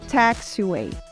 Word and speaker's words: taxiway: A letra A, que segue a letra T, ganha um som entre a letra A e a letra E aberta. A. A. O mesmo som da palavra maçã. Apple.